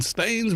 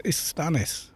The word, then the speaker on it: Istanis: Call him Warden Staines. We've been saying it wrong for years. It's Istanis, apparently. Yoink.